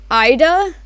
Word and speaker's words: Aida: properly, vinyl weave, or also it's called Vinyl Aida. It's spelled A-I-D-A, and basically it's for people who like to do, what's it called?